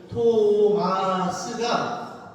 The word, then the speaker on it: 토마스: 토마스가 토보다 마보다 스가 소리가 마의 반만 하잖아. 성 토마스 이게 아니고 S 발음이 잘 나죠. 성 토마스 이렇게 되는 거예요. 준비.